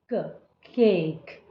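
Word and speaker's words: cake: वोलस देखने को मिलेंगे first one will talk second one will be silent तो सेकंड वाले की आवाज जो है वो बिल्कुल नहीं आएगी क ए क केक सो लॉन्ग ए साउंड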